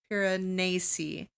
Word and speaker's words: Piranesi: So I finished Piranesi.